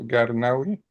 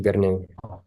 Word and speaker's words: Garnaoui: Bon, alors voilà, je vous présente donc Monsieur Wael Garnaoui. C'est comme ça que ça se prononce, Garnaoui? Oui, c'est ça. Oui, El Garnewi. El Garnaoui aussi, El Garnewi, ouais.